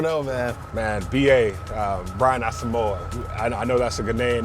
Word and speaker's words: Asamoah: So, first of all, people don't really realize my name is not really, like, it's pronounced kind of differently. Okay. It's actually pronounced Asamoah.